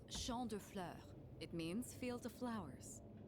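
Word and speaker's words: Champs de Fleurs: Champs de floors? Yep. How do you say that? Got it. It's Champ de Fleurs.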